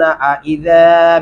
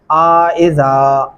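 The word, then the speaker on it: أئذا: आइज़ा। आइज़ा अलिफ को लंबा कर दिया जाता है, जो कि नहीं कर सकते।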